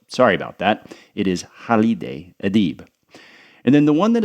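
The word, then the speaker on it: Halide Edib: First is Turkish feminist Hal Adib. I said Haleid, which I think is actually a male name, so sorry about that. It is Hal Adib.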